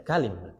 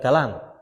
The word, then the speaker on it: kalim: Biduni alif itu kalim itu bacanya kalim bukan kalam. Kalau kalam kan pakai alif toh.